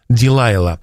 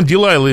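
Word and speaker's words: Delilah: женщину из стана врага по имени дилайла но по-русски оно произносится как далила но я все же буду использовать английский вариант с вашего позволения так вот это самое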